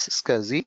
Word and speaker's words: SCSI: SCSI is pronounced as SCSI.